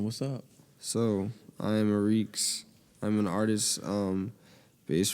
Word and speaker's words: Ariex: up so I am a reeks I'm an artist um based from uh South Jersey um oh reeks I'm glad you put your pronunciation in your Instagram you never know now